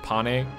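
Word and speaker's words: Panne: And by the way, I do believe it is pronounced Pane. I was talking to a friend of mine, and she said that it's Pane. And the reason why it's not Pain is because Pain is a weird name.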